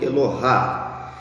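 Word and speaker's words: אלוה: Elohim é a versão pluralizada do singular Eloah, ou alguns pronunciam Elohá.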